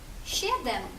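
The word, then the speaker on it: siedem: цікаво чикаво Че чекаво С І е прочитаємо як ще наприклад у слові сім щедем сім ще Ден ще і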